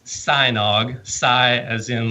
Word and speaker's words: Sajnog: SCI as in like and then nog as an egg nog so sign OGG that's exactly what I tell people you love notice I you drink some eggnog and you'll never forget how to say my name or if you grew up with Teenage Mutant Ninja Turtles you know sigh like the weapon so one thing I